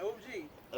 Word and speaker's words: Og: I just want to make sure we were pronounce it OG OG yes and uh and it's down there this